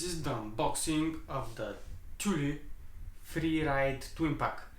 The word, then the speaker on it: Thule: the unboxing of the Tuli Free Ride twin pack I checked on the internet how tul is pronounced I thought it was tul d uh whatever but it's the Tuli Free Ride twin pack